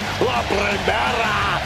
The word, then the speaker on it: La Primera: La Primera, Stephanie McCare. You need to roll your R's a little bit on that, man. La Primera.